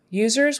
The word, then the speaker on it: users: user user user user that U is like a y o u like the word you you Zer user um